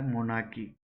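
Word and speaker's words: monarchy: Are silent होता है मोनार्की.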